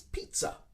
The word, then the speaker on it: pizza: course but in english we actually add a t sound in the middle of the word which is strange because there is no t in the spelling so for a native